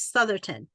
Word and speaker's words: Southerton: I wanted to make sure that I was pronouncing it properly and the last name is Southerton yeah correct okay awesome I just wanted to